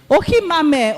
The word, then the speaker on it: Ohimame: Ohimame. Okay, the H is silent.